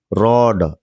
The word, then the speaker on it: read: रीड, रैड, रैड, तीनों form same है बट इसको रैड पढ़ा जाता है, इसको भी रैड पढ़ा जाता है। फॉर्म सेम है, इसको रैड पढ़ते हैं, रैड। इसको भी क्या रीड किया जाता है, रैड।